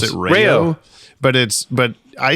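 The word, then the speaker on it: Rao's: It's RAO pasta sauce. I think you pronounce it Rayo.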